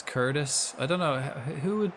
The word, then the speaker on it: Curtis: And kitus. Yeah. Yeah. Yeah. I mean it it means that everywhere. That's kind of why I say it. But it's also it's Curtis.